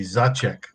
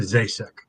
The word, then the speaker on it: Zacek: I mean, the actual pronunciation, the old country pronunciation would be Zacek, but it's anglicized to Zasek, and I've always said it that way.